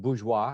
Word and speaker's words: bourgeois: And the third estate, that word is pronounced bourgeois, at least that's the closest I can come to it, the commoners.